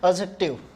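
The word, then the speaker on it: adjective: काफ़ी सारे स्टूडेंट्स इसको एडजेक्टिव पढ़ते हैं, बेटा ऐसा नहीं करना चाहिए। एडजेक्टिव डी साइलेंट होता है।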